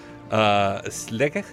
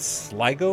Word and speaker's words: Sligo: they there you go slick I believe is the pronunciation I can't do any of these right but Sligo was apparently the the